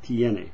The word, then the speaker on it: tiene: say tenes, you say tienes, you have. When you get to the he and she form, you say ella tiene, she has, tiene, not tene.